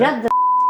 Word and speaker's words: mujadara: Mujadara.